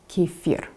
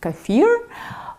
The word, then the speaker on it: kefir: According to Merriam Webster’s dictionary, the proper English pronunciation is Kah-fear, but I don’t think most English speakers got that memo, so they are calling it kee-fir and keh-fir.